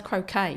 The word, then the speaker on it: croquet: No, that's croquet. Croquet. It's spelt the same, isn't it?